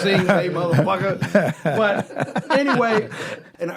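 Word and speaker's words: Yngwie: He says, no, it was just pronounced Junji.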